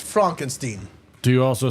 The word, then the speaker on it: Frankenstein: Steen. You're putting me on. No, it's pronounced Frankenstein.